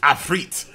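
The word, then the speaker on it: afreet: like i was saying some people say a free but back in um d and d fg oh yes d and d fg learned at a very young age that it's actually pronounced a freit um so activating independent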